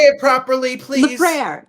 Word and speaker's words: LeFrere: LeFrere, just LeFrere. LeFrere. I mean, I never use the French pronunciation, but you could say LeFrere, but it's just LeFrere. But everyone gets it wrong.